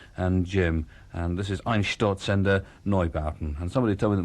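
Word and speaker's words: Einstürzende Neubauten: And this is Ein Sturzender Neubauten. And somebody told me that my pronunciation of this is improving every time I do it.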